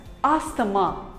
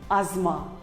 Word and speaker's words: asthma: us call it as asthamma but wrong it is not asthama it is called as asma the t and h is silent asma here is another